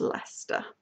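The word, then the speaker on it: Leicester: is spelled weird and I can tell you the correct pronunciation because I live there it's Lester um so there you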